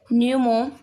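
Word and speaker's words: pneumotaxic: न्यूमोटैक्सिक centre, इसमें P silent है।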